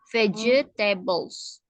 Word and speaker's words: vegetables: Jadi bacanya tuh G-nya berubah jadi J ya. Vegetables.